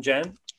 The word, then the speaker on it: Cem: First question I alluded to in the intro there, your name is spelled C-E-M, but it's pronounced more like, with a J, Jem, that's the handle.